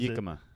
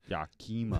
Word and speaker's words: Yakima: And that goes right along with the other rack company that has the mispronounced name. Is Yakima.